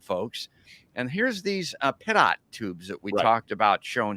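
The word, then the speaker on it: pitot: I said pito, but that's not correct." Yeah, it I pronounce it pit tubes.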